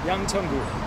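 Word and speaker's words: Yangcheon-gu: of this District how do you say it Yang chongu Yang chungu that's where we are that is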